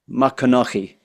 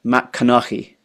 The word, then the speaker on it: MacCoinnich: But we've kind of screwed up the cadence of it, where the emphasis on the right syllable. So you're correcting us. It's MacCoinnich. MacCoinnich.